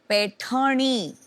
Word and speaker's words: पैठणी: स्लोनी, पैठणी, वो जरा प्रोनाउंसिएशन इनका चेक कर दीजिए।